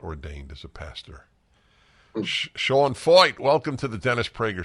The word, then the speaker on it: Feucht: a man named Sean foyt and it's not it's not spelled like it's pronounced I'll tell you now